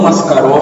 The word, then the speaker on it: Mascaró: Juanmascaro, agudo no O, Mascaró.